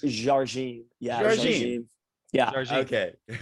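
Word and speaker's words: Jardim: How do you pronounce Simone's last name? It's now I'm a country white boy from Alabama, but it's Jargine.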